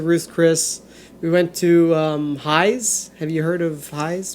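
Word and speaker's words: Hy's: Oh, but it's spelled in what way? HY''S. High's.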